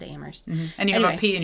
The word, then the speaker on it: Amherst: it everybody has an amherst massachusetts is the only amherst in the country that doesn't say the h everywhere else is amherst and that's how it's spelled but in massachusetts we just said amherst and you know pee